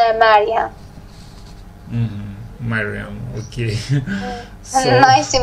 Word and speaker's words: Mariam: It's actually Mariam, but in different languages, maybe the pronunciation is a little bit different. But if you want the exact pronunciation in Persian, it is Mariam.